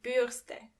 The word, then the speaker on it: Bürste: A brush, die Bürste. Die Bürste. And remember, you don't pronounce the R as R, but more like R. So the word is die Bürste.